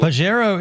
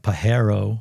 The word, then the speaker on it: Pajero: Under the Delica, Pajero is Spanish for wanker Is it really was? I know he's saying it correctly like Pajero, but we've always said Pajero.